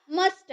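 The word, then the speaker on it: muster: मस्टर। ये जो र होता है ना लास्ट में, इसको हम लोग हाफ प्रोनाउंस कहते हैं, आधा प्रोनाउंस इसे कहते हैं। इसे हम लोग आधा प्रोनाउंस करते हैं, मस्टर।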